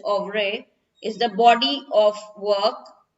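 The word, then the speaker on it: oeuvre: also of ray over actually pronunciation is of re is the body of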